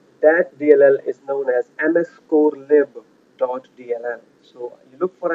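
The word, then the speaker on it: mscorlib: The way you pronounce it is ms core lib.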